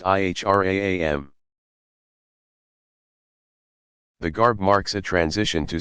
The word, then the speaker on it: Ihram: on the plain white wraps called the Ihram pronounced IHRA am the garb marks at to sacred space and